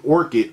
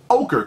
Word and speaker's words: ochre: I think that's how you say it. I always want to say orchid or orchard or okra or something. But ochre colorway.